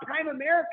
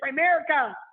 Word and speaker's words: Primerica: make the cake just stop talking about prime America and we're like it's Primerica you better say it right or we're not gonna